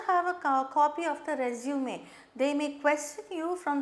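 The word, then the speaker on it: résumé: Keep in front of you or keep before you company notes and a copy of resume. This is a French word with an accent, so we pronounce it as resume.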